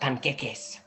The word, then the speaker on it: panqueques: I think you mean pancakes? No, I didn't say pancakes. It's pronounced panqueques.